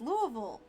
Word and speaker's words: Louisville: It is Louisville.